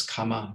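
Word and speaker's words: kamma: that i'm highlighting uh one thing to note is that this is comma with one m um and if i was pronouncing it correctly you could tell that it was something different from comma the comma which you might hear more often which has two m's and is you know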